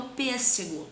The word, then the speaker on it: pêssego: Aqui eu tenho pêssego. Vamos separar. Pês. Um S vem para essa sílaba. Sé. Apenas um S nessa outra, tá? Pêssego. Cadê a sílaba tônica? Pês. Então, a sílaba tônica é a antepenúltima.